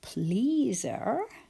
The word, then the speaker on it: pleaser: And if you were a people pleaser, we would add suffix ER. Drop the E. But when we say pleaser, we still hear Z.